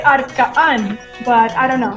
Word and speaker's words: Arka'n: Okay, so I should help me pronounce it because I know it's A-R-K apostrophe. That means something. Yes. A-N, It's Arka'n. right? Yes. I would say Arka'n, but I don't know.